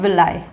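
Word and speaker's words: villi: In finger like projections को आप बोलते हैं विलाई। इनको बोला जाता है विलाई, विली, जो अलग अलग प्रोनाउंसिएशन के अकॉर्डिंग।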